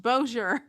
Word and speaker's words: Bossier: fact that it's pronounced Bozier.